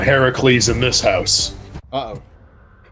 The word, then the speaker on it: Heracles: but also in Rome they called him Hercules I believe it was the Roman pronunciation as Hercules yeah Heracles I believe is the proper pronunciation we only call him Heracles in this house uhoh